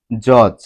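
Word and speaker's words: judge: না আমি আবার বলছি ডি এর পর জি হলে ডি এর উচ্চারণ হয় না যেমন জজ জজ এই শব্দটিতে ডি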